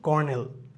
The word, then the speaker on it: colonel: কর্নেল বানানটা কিন্তু COLONEL, এটা উচ্চারণ কিন্তু কর্নেল। সো আমরা যে বলি যে ম্যাজিস্ট্রেট কর্নেল, এই কর্নেলের উচ্চারণ হচ্ছে গিয়ে মানে বানান হচ্ছে কি COLONEL। সো এটা উচ্চারণ হচ্ছে কি কর্নেল।